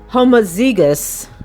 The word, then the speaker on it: homozygous: if those two alleles are same they're called homozygous oh god h-o-m-o-z-y g-o-u-s homozygous okay in that